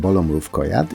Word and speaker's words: Bolo Mrówkojad: Bolo Mrówkojad, which is actually pronounced Bolo Mrówkojad, is a Polish side-scrolling platformer.